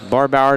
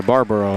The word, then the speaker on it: Barbaro: Hoffine checks in now, and Barbauer to check in, and also checking in will be Brady Hickey. Sorry, Barbaro is how you say it.